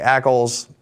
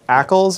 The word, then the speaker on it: ACLs: Ackoles or A-C-Ls? You say A-C-Ls. I say A-C-Ls. Yeah, that's I've always done. Which means that's probably the right way to say it.